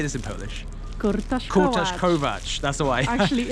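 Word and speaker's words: kurtoszkołacz: Kurtaszkować.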